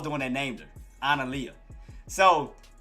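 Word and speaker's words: Analiyah: So her name is Analia. It's spelled A-A...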